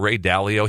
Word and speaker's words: Ray Dalio: But clearly, we do see is it pronounced Dalio? Ray Dalio?